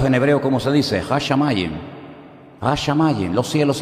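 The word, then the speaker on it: השמים: Hashamayim.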